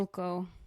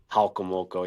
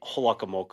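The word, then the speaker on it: Jalcomulco: I remember walking the streets, and I always butcher the pronunciation of the little town. So go ahead and tell me. Halkomulko. Halkomoko, yeah. Yeah. For some reason, always want to say Holakomoko.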